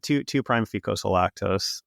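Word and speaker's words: 2'-fucosyllactose: fucil lactose yes yeah how do you say that you say that yeah yeah two two prime fosil lactose yeah yeah and yeah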